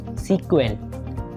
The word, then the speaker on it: SQL: का full form है अगर हम स्कल को प्रोनाउंस करेंगे तो कैसे करेंगे स्कल को हम प्रोनाउंस करते हैं स्कल सेपरेट हमारे पास जैसे टर्म लिखी हुई है एस एंड के और एल कभी-कभी प्रोनाउंस इसको कुछ लोग इस तरीके से भी कर रहे होते हैं की सीक्वेंस ठीक है स्कल हमारे